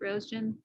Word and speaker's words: Roesgen: For the folks at home, for those of you who don't know how to pronounce it, it's pronounced Roesgen. Exactly.